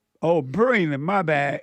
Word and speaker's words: Braylen: Braylen. Oh, Braylen.